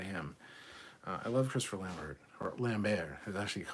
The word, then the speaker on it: Lambert: there signed by him uh i love christopher lambert or lambert who's actually pronounced lambert but um yeah i need to see it